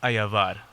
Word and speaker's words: Ayabar: your last name how do you say it ayavad wow I would have butchered that that was romantic damn all right